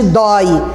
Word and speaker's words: dói: Mas a tonicidade de dói e de corrói é na última sílaba. Na última você está vendo o O e o I. Eu não tenho como pronunciar doi nem corroi, então ele é aberto.